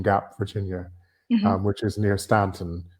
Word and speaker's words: Staunton: Virginia which is near Stanton which is spelled Staunton but it's pronounced Stanton and she was very